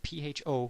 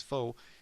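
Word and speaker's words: phở: And it's especially delightful because it's spelled P-H-O, which you would think is pho, but they pronounce it pho, which is even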